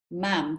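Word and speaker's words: ma'am: and she said oh you called her mound to rhyme with Pam and I ended up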